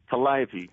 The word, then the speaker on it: Calliope: Now the piece, am I pronouncing it correctly? Calliope. Calliope.